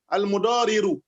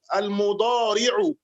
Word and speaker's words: المضارع: Someone is pronouncing it as if he's pronouncing al-mudariru, not al-mudariru, al-mudari'u.